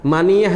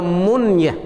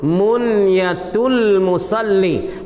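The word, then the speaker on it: منية المصلي: Baca munyah dengan mati nun dengan sukun nun. Munyatul Musalli. Bukan ya baca maniyah.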